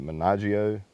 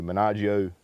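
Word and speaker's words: Maniago: Is it Menaggio? M-A-N-I-A-G-O, Menaggio, Italy, okay?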